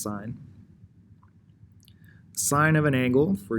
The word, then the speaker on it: sine: function is called the sine function on your calculator they take the e off it's not sin is actually pronounced sine sine of an angle